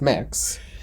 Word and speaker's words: Mx: think september october maybe where it's mix mx pronounced mix so it'd be like